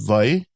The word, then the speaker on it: wai: And then you see we use that V sound for that. But you can also use Y with the W. But mostly what I hear is V.